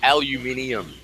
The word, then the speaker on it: aluminium: we call it aluminium, and then Oh.